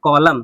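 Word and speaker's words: column: अब इसको पढ़ेंगे कॉलम। क्या पढ़ेंगे? कॉलम। एन हमारा जुड़ा रहता है, एन साइलेंट होता है, तो क्या पढ़ेंगे इसको?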